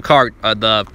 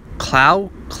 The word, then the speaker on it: Clow: and took all the crow cards. The crow? Is it pronounced crow? It's clow? Yeah, it's clow, isn't it?